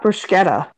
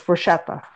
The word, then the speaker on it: bruschetta: for not saying bruschetta it's not bruschetta it's bruschetta okay so they're just dicks